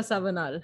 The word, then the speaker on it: Savanal: To know in depth about her journey and about her venture, I would like to welcome Akanksha Savanal.